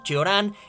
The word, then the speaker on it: Cioran: de sí ahora no otros le pronuncian como que oran en fin eso es